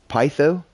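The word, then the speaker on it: Peitho: But her name is pronounced Pytho.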